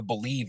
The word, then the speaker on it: Bleav: It's part of the Believe Network. I don't know if you guys are familiar with that, but it's spelled in a strange way, BLEAV.